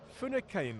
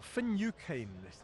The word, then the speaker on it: Finucane: Finucane or Finucane. Correct pronunciation there.